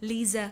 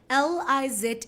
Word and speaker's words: Lize: instagram and facebook at lisa can i spell it l i z e e-h-l-e-r-s because my name is not liz my name is not rice my name is not lizard do you know when